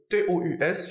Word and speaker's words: tous: dit au début de cette vidéo le mot t o u s se prononce tous lorsqu'il est prenant et on va